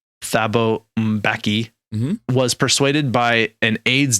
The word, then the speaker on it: Thabo Mbeki: So the first one is that the president of South Africa from 1999 to 2008, whose name the internet told me is pronounced Thabo Mbeki, was persuaded by an